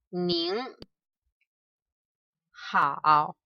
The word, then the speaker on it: 您好: This one we pronounce 您好, and this is 你好.